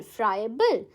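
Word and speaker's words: friable: फ्राइबल कैसे pronounce करोगे आप? फ्राई। ठीक है? ए बल। ऐसे ही ब्रेक करके याद करो। फ्राई ए बल। फ्रायबल।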